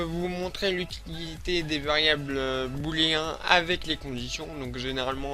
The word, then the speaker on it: booléen: Donc BOO, voilà, booléen. Alors, je sais que c'est le mot, ça se prononce booléen, mais moi, je l'appelle booléan.